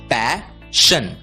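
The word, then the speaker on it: passion: इसलिए पी ए एस एस आई ओ एन का उच्चारण होगा पैशन पैशन words ending with T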